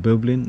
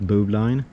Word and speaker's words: bowline: talk about the bubbling just uh pronounced bubbling not blue line bubbling and we're going